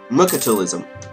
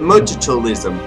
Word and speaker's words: mercantilism: teacher, because she always pronounced it mercantilism. Mercantilism, and I'm just like, no, it's mercantilism. And so I was just